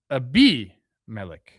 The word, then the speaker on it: Abimelec: Abimelec. Abimelec. I got to find out more about this guy. Yeah, the pronunciation's on there. It's tough for me. The acento's on the B.